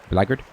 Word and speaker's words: blackguard: of blackguard are blacker blackard is what they how they pronounced it but that is